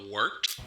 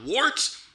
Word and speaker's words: Wort: It's pronounced the Wort. What is it? The wort? Yeah, okay, I'll do that again. This is The Wort on Govs Radio. It is the Wort. Not warts, not forts, not short.